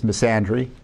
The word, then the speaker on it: misandry: It's misandry, right? Misandry, I think, is the pronunciation.